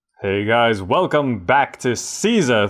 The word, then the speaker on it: Caesar: Hey guys, welcome back to Caesar 3, or some people pronounce it Kaiser, Kaiser 3.